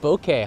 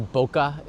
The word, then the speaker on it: bokeh: good job with that bokeh huh I know some people people say bokeh in Japanese it's pronounced Boke and it's a Japanese word so that would be